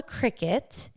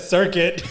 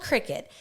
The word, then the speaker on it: Cricut: It's called a Cricut. Okay, but it's spelled like cry cut.